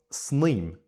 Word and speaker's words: sníomh: with an I, or sníomh, which is throughout the whole country as demonstrated, generally pronounced with an e sound.